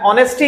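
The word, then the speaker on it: honesty: अगला है rule, my mother said to me, comma inverted comma में, ऑनेस्टी इज the best policy. ऑनेस्टी में एच को silent रखना है, प्रोनाउंसिएशन हमारा ओ से शुरू होगा।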